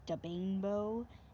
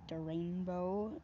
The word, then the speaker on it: Da Bainbow: It's Da Bainbow, not Da Rainbow, unless he said that.